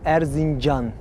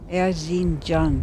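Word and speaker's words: Erzincan: I know I could never pronounce it. It's called Erzinj. Erzinj.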